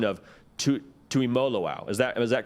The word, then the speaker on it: Tuimoloau: to make sure I commended you on the pronunciation of to to emoloau is that is that correct am I am